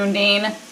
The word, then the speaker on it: Undine: episode 9 with the Undine and Marcel. Undine. Undine? Have I been saying it wrong? I think you have.